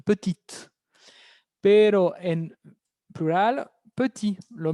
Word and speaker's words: petite: Pero con el adjetivo petit, pequeño, petit, si lo paso a femenino, dijimos, hay un cambio de pronunciación, petite.